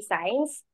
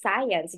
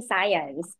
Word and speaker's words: science: interns if they say science um I would insist it's science because it has two syllables so we're not teaching science we're teaching science so I correct good